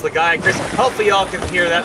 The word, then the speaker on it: Lagiacrus: It's pronounced Lagiacrus.